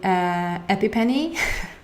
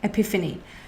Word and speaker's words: epiphany: but to say that my dear friend is pronouncing epip any which we other people in English say epiphany so you might have